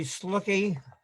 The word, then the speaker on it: Slucki: my name is slucky uh pronounced like the word look my wife always uh emphasizes that uh it's got the word luck in it and i certainly would